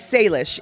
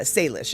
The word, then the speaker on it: Salish: so um yeah it's salish it's actually it's not an it's not leash it's lish l-i-s-h so it's it's like